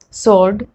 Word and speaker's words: sword: other words like answer sword to where we are not pronouncing w at all now that you have